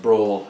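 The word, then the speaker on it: branle: a uh brawl uh spelled b-r-a-n-l-e but pronounced brawl as in a fight um and this is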